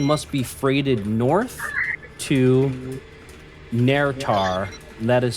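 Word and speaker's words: Naerytar: the words everything must be freed North to narar that is spelled n AE r y t a r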